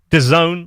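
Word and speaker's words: DAZN: I wanted to watch Netflix obviously Amazon Prime the zone which is sports for people who it's also the world's weirdest pronounced thing ever it's spelt Vaz N and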